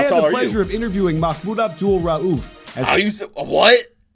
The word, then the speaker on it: Mahmoud Abdul-Rauf: I had the pleasure of interviewing Mahmoud Abdul-Rauf. What? How do you say that name? That was some good pronunciation.